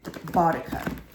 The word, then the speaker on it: Boudica: Also, I want to look at Queen Boudica or Boadicea. Depends on how you want to pronounce it, because I know she was a pagan queen, but she was also defending England.